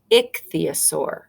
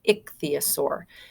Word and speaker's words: ichthyosaur: That means that we've stressed that, or we say it a little bit louder. We say ichthyosaur. Okay, and we give it more of a stress. That's the syllable that we stress, ichthyosaur.